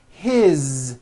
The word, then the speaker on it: his: good here that is his same thing it also has a voice Z ending his mom is married